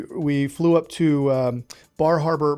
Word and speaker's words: Bar Harbor: flew up to um Bar Harbor Maine or as the locals call it bahaba uh that's how you say it there and when we got